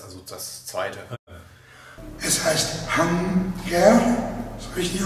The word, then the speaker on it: Hang-tér: Es heißt Hunger. Ist richtig ausgesprochen?